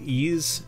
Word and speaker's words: Ys: you don't like RPGs it's called ease it's spelled YS I bought a lot